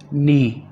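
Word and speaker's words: knee: नी घुटना, इसमें के साइलेंट है, के की आवाज़ नहीं निकलेगी, ये होगा नी घुटना।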